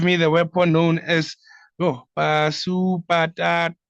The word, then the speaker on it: Pashupatastra: the weapon known as Pasupatastra. Is it Pasupatastra? My How do you pronounce it, Prabhu? Pasupatra. Pashupatastra, Prabhu. Haribol.